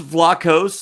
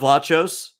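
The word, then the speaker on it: Vlachos: loves it alright did you know it was pronounced Vlahos and not watchos yeah there it's Tony Packo's okay I always thought it was watches don't mean that I that is just like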